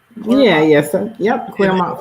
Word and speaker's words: Clermont: Yeah, Clermont.